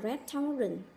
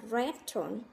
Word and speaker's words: restaurant: đọc từ này là restaurant, restaurant. Thực tế thì người Mỹ đọc là restaurant và có hai âm tiết và nó nhấn vào âm tiết đầu tiên.